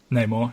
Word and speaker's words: Namor: Namor? Namor, yeah.